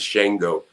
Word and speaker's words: Shango: The correct pronunciation of it is Shango, but I thought that sounded too country, Papa Shango.